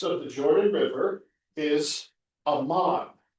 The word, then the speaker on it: Amman: the Jordan River, is Amman. Amman, Ammon. Ammon, you do a little, it's called a vowel shift linguistically. Ammon became Amman. So it's the same name, just pronounced differently.